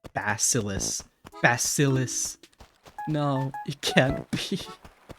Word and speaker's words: bacillus: Please don't tell me my favorite bacteria is pronounced like bacillus.